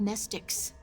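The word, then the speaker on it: mnestic: They're called nestics. The M is silent.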